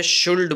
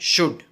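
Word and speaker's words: should: आता है तो शुड शुड के स्पेलिंग में जो एल है वह साइलेंट है इसके लिए उसका उच्चारण में कोई रोल नहीं है तो कई लोग गलती करते हैं शुल्ड बोलने की तो यह नहीं करना है हमें बोलना है शुड इंग्लिश वाक्य रचना है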